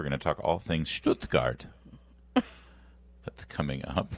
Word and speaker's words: Stuttgart: We're going to talk all things Stuttgart. That's coming up. Why you laugh when I say Stuttgart? That's the correct. I'm saying it right.